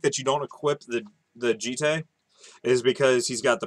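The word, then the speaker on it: Jitte: I'll go Jite. Yeah. Jite. Or Jeet, if you want to pronounce it. No, I'll go yeah. Jite. All right, we'll go Jite.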